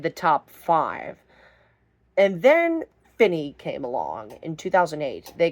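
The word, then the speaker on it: Finis: And number 14, we got Finny from 2008. And yes, it is pronounced Finny.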